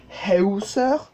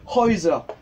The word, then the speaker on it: Häuser: Et vu qu'ici, on a une diphtongue, AU, ici, ça ne se prononcera pas Hauser, mais bien sûr, Häuser, parce que AU plus un tréma sur le A, ça fait Oi.